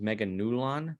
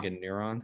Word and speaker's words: Meganulon: I just want to mention, or I believe the pronunciation is Meganulon with an L Mm, rather than Uh-huh. Meganeuron.